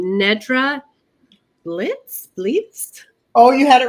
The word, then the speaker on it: Blietz: you may need to correct me on the pronunciation of your last name, Nedra Blietz. Oh, you had it right the first time. The first time. Blietz. Blietz, yeah.